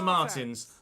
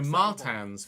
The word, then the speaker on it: Martins: struggle we will be starting P 16 Victor Martins sorry Martans Victor Martans get my pronunciation correct I apologize Zach Maloney in P9